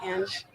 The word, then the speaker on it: Ang: My name's Ange. Ange? How do you spell that?